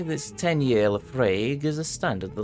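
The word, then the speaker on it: Laphroaig: Oh, I've had Laprague.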